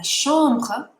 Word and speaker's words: chambre: La chambre. Oops. La chambre is the bedroom. Now remember, in French, a CH sounds like a sh.